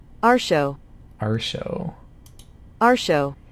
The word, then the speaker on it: Artio: found um this the the goddess is actually pronounced our show our show our show it's gonna be really hard to train myself to not say Rdio because I just called it that in my